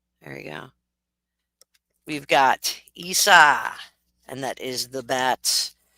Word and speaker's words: Isa: It sounds like the word ice, Isa, but it also, and it means ice.